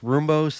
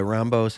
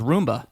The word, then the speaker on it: Roumbos: Roumbos, that's how it's pronounced, but I go by Roumbos, however you want to say it, a.k.a. Rambo. I thought it was Roomba. Yeah, I've gotten that too.